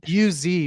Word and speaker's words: Uz: U-Z, but it's pronounced Uz. like Uz. Yep. Uz, you could say Uz. It's a short vowel in Hebrew. So is it Uz and booze or Uz and buzz? Uz.